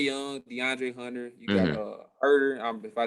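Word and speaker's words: Huerter: You got Herder. If I say his name wrong, my bad. You got it right there. You got him. Okay, my bad. You got Herder.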